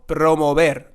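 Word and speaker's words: promover: letters are this word so we're going to have a little r rolling sound here so it's going to be Pro and it's not going to be Pro not pro mobile but it's going to be promo promo and then like here again we have the V or the bass sound so it's going to be promo bed and not there so promo ver there you have it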